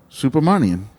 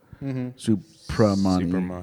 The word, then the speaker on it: Subramaniam: do this the pa instead of the ba. Supermanian.